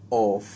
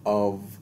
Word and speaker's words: of: और अगर आपने क्लास वन से मेरी प्रोनंसिएशन के बारे में देखा हो तो मैं हमेशा इसको प्रोनाउंस करता हूँ जो कि ओ एफ है, अव अव, राइट।